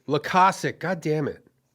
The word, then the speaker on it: Loykasek: Is it Loykasek? Is that how you pronounce it? It's Loykasek. Loykasek.